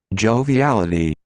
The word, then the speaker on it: joviality: reshare my screen sh sound a how to pronounce joviality joviality ah you can see like if you